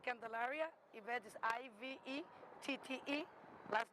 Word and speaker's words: Candelaria: Now, and part of this, your name again, but spell your name, pronounce it and spell your name. Yeah, my name is Ivette Candelaria.